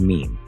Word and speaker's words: meme: So, he shortened mim to meme. It should rhyme with cream, Dawkins wrote, adding that it could also hint at memory or the French word meme, meaning same.